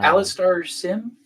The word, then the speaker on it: Alastair Sim: How do you pronounce his name again? Uh, Alastair Sim?